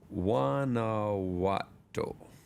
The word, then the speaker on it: Guanajuato: Don't ask me to spell it. It starts with a G. Guana. How do you say it? Guanajuato.